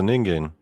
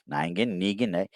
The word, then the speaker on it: Negan: Hey look it's a ningan ningan here let me help you pronounce it again ningin ningan Negan it was funny though